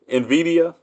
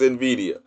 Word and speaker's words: Nvidia: matter cuz I pronounce it how do I pronounce it Nvidia yeah that's how I pronounce it Nvidia that yeah it's no it's no vow between the n and the V so it's Nvidia Nvidia yeah re remember right right new Bitcoin I'm